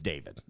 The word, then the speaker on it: David: You'd be like, Davad. "Hey, listen, Dave." It's David. Have you ever had that, dude?